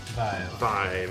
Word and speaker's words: Vive: Do you pronounce it Vive or V? Vive.